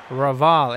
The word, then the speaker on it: Raval: All right, 50 partnership up between Nichols and Javal. I think it's Javal. Not Javal. Raval. It's J. Raval.